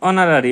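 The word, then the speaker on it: honorary: হি ওয়াজ ডশ অনারারি magistrate. H উচ্চারণ ও এর মত হওয়ায় এন বসবে।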